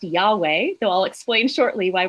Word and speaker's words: Yahweh: And scholarly consensus argues that it should probably be pronounced Yahweh, though I'll explain shortly why we're not exactly sure how it used to be pronounced.